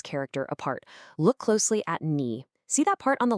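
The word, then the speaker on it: 你: Just like W, it's also got that tricky third tone. So again, listen for that dip knee. It's not a flat knee, but ni with that same rise and fall.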